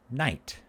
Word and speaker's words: night: slept in altanite but notice the spelling in yght that's because we people used to pronounce that sound ght but now we don't say that we say night so even though the